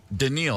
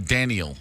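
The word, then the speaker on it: Danielle: Daniel Hunter, how do you say it? Daniil. I keep saying Daniel.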